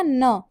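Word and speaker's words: ん: और लास्ट है हमारा न, इसको हम एन नहीं बोलते, इसको हम बोलते हैं या फिर न।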